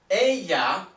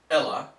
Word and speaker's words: ella: Notice in Spanish when we have a double L, we pronounce it like a Y, not like an L. So the word is not pronounced Ella, it's ella.